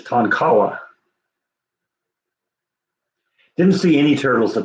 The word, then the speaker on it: Tonkawa: I go back and I was pronouncing it Tonquana or something like that, and it's like, wait, I'm reading it here, and it's like, no, that's not how it's pronounced. It's Tonkawa.